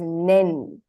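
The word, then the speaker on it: 年: So this kanji is pronounced as nen.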